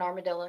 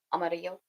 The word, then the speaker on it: Amarillo: I was born in Armadillo, yeah. Amarillo, kind of like Villarrica.